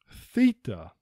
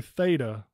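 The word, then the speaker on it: θήτα: Theta. A lot of people might say theta with this one, but it is actually theta.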